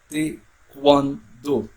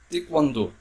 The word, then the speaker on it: Taekwondo: é coreano, nesse T, Taekwondo, Taekwondo, tá? Muitas vezes esse K pode até ser substituído por um G. Muitas vezes acaba ouvindo o Taekwondo, não é?